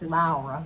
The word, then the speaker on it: Laura: And her name is Laura. Yeah. Even though it's spelled Laura like we would pronounce it, But it's Laura. Finnish pronunciation. But she'll answer to Laura.